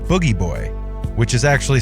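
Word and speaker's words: Booji Boy: is written like bougie boy but it's actually pronounced boogie boy mark would play this character by putting on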